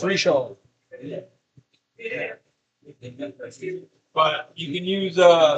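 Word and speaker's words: Richard's: koala I use uh Richards r i c h a r d Richard spelled Richard pronounce reard but you can use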